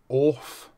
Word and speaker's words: OFRF: Today's review is of the it's not OFRF like some people are saying. It's actually off or off with a silent R.